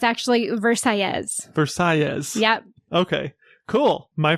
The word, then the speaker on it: Versailles: influenced by Spanish mhm they actually pronounce it the double L's as if you were speaking Spanish oh as a y and so it's actually verses verses yep okay cool my first choice verses restaurant verses Cuban Cuisine